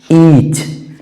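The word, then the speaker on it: each: ई ए सी एच ईच ई ए सी एच ईच उसी तरह से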